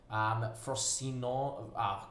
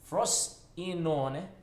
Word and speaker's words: Frosinone: In terms of our rivalries here, Catania, Messina, Frosino, there we go, first mispronunciation of a name, right there. Frosinone, there are, that is still horrid.